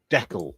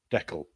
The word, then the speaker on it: deckle: Deckle, that was it. Yeah, like freckle. Deckle.